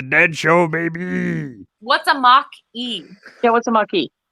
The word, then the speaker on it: Mach-E: Mach-E. That's what it's pronounced Mach-E. See, that's what it is. It's pronounced Mach-E. Get it, people.